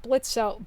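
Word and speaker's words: Blitzø: whole thing with like blitzo Blitz you know how he was once blitzo but now he drops well he didn't even drop the o just the O is silent I love that that's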